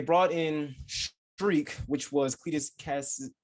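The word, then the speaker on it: Cletus Kasady: And they brought in Shriek, which was Cletus Cassidy.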